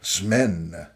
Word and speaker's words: Smen: Unless you're reading that and not seeing this little bit right here, it's pronounced Smen. That's one syllable.